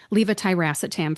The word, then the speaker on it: levetiracetam: thing, like if there's levetiracetam, for example, the ra in there sounds like the ra in rat instead of the ruh, like a dog says rough.